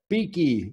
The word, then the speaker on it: Bueche: here with dr beaky she pronounces it beaky but it's b-u-e-c-h-e-d-o an